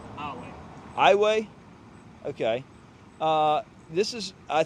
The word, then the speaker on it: Iowa: Is this pronounced Iowa? Iowa.